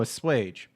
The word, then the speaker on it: assuage: pronounce this because it's going to bother me pronunciation a sage oh a swage there we go a sage there you go